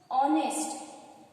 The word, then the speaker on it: honest: Here honest, O sound is pronounced here, not H.